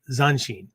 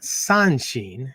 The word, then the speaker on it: Zanshin: So what I'm talking about is Zanshin, right? Not Sanshin, right? Different kanji, completely different kanji, right? So not Sanshin, Zanshin, Zanshin, right? Zanshin.